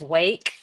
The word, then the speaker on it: Rwake: me out here guys it's rake not where right I mean you we leave that up to uh anybody can pronounce it how they want we usually just refer to it as wake um without an R yeah but uh we